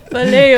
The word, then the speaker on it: paleo: Paleo carnivore. Paleo diet. Paleo, because it's like paleontology. Paleo diet. Paleo, like paleontology, like the old like Ross from Friends. Yeah, paleontologist. Paleo.